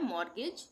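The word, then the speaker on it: mortgage: यह है मॉर्गेज। इसमें भी टी का उच्चारण नहीं होगा।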